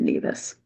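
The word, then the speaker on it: Nevis: just so you know, if you go to the Caribbean island, they will pronounce it neas.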